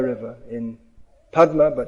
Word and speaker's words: Padma: Most of the water from the Ganga goes into the Podda river in Padma, but in Bengal it's pronounced Podda.